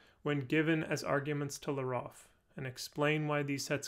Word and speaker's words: llarof: Consider the hypothetical quantificational determiner that I suppose I'll pronounce Leroff.